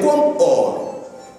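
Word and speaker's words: Comores: faut savoir que les Comor c'est comme l'OM malheureusement certains le prononcent comme mort or ça ne se prononce pas comme Mor mais comme or de l'or alors les comme or c'est bien là cette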